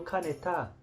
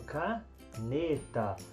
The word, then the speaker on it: caneta: eu falo caneta não eu falo canetaa não eu falo cá neta então a sílaba tônica de caneta é nê um pincel como é